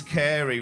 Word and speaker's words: Carey: hand job okay noted my name's carey which is unusual i have an unusual name i didn't like going to school with the name carey because it rhymes with everything hairy fairy scary canary mary quite contrary library